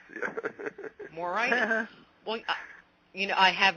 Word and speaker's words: Moraitis: name for me but you said it right moritis moritis well you know I have no phonic skills